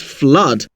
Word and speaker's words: flood: The first one is flood and the second one is loot. The oo in flood has an h sound whereas the oo in loot has an ooh sound.